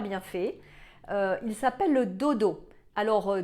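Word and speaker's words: Dodow: Il s'appelle le Dodo. Alors Dodo, ça s'écrit D-O-D-O-W.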